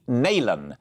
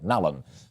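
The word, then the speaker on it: Nallon: and we'll hear from steve nalen or nalum depending on how you say it i've just been told off in my ear nalan the voice of mrs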